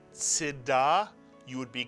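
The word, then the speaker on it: צְדָקָה: So that it's not Tzedakah, but it's Tzedakah. So the first syllable here is Tzedakah.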